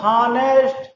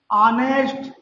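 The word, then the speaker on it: honest: silent होता है तो बच्चे पहले तो इसे पढ़ते हैं हानेस्ट, लेकिन जब मैं उन्हें बताता हूं नहीं बच्चों, हानेस्ट नहीं, ऑनेस्ट, तो मेरे बच्चे मुझसे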